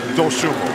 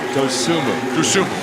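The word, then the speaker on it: Dosunmu: He told me it was Dosumu. Dosumu. Okay. Dosumu. He told you right.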